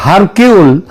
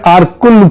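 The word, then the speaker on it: Hercule: আগাতা কৃষ্টির যে গোয়েন্দা আরকুল পোয়ারো তার তত্ত্ব অনুযায়ী আগাতা কৃষ্টি এবং তার গোয়েন্দা আরকুল পোয়ারো এটা যদিও ওই উচ্চার উচ্চারণে এটা হয় হারকিউল কিন্তু একচুয়ালি উচ্চারণটা হচ্ছে আরকুল পোয়ারো তিনি যদি আজ বেঁচে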